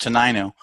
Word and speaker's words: Tenino: You also own Valley Auto Repair out there in Tenino, Washington. Hey, you pronounce it just like President Trump does. It's actually pronounced Tenino. I knew that. You did it the presidential way, which is completely acceptable.